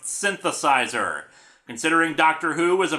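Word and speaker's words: synthesiser: with the aforementioned words synthesis ER is just the British spelling of synthesizer and I have quite a few British fans who pointed out how stupid I sounded when it's still pronounced synthesizer considering doctor who was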